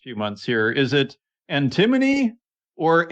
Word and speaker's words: antimony: Is it antimony or antimony? What do you say? We say antimony.